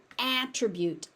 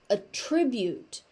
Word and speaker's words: attribute: So, as a noun, it's an attribute. A a tense a sound. As a verb, it's attribute.